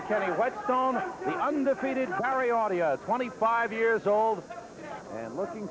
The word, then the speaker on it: Audia: His grandparents on his father's side, both from Italy, and pronounce their name Audia, but he prefers to be called Audia.